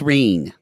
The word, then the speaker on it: Wren: It should be pronounced Ren, but where I'm from, y'all say Reen. Well, it actually should be Reen because it comes from German. Yeah. So it should be Reen in German.